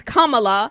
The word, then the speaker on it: Kamala: It is Kamala.